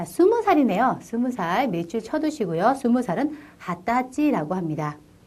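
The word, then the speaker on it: はたち: 4살, 5살, 5살, 6살, 6살이라고 쓰여 있습니다만 발음할 때는 6살이라고 발음하셔야겠습니다. 7살, 7살, 8살, 8살, 9살, 9살, 10살, 10살. 자, 20살이네요. 20살 밑줄 쳐두시고요. 20살은 하타치라고 합니다.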